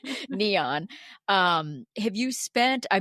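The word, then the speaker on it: Nyon: main train stop is Neon. N yo N. I always wanted to call it Nion. I'm like remind me how to say it again. Neon.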